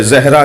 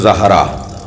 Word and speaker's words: زہرا: کر رہا ہوں کہ ہمارے ہاں عجلت میں جلدی میں زہرا کہہ دیتے ہیں، صحیح تلفظ زہرا، زال پر زبر۔ کہتے ہیں یا رسول